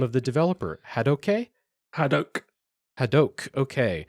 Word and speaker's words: Hadoque: Hadoque, okay. Literally just Hadoque in Swedish, I believe.